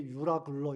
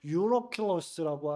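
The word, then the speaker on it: Εὐροκλύδων: 주석가에 따르면 이 광풍은 동풍이라고 하는 유로스, 그리고 북풍이라고 하는 아킬로의 복합으로서 유로킬러스, 그래서 그 발음이 한국말로 번역할 때 유라굴로 이렇게 번역을 했는데요. 원래 발음은 유로킬러스라고 하는 광풍입니다.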